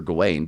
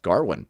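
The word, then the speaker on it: Gawain: It was this uh supposed to be this modern retelling of uh the story of Sir Garwin, which I always thought was Sir Gane, but it's pronounced Garwin properly.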